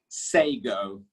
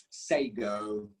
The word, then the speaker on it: sago: second word sego sego the word is sago say go say go word number three cash